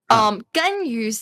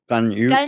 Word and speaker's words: Ganyu: There's a little bit there's of like a little Okay. O behind the U. yeah. Gun you. Oh, I can't say it. Ganyu. Gun you. If I just pronounce that one like special U letter, it sounds like U.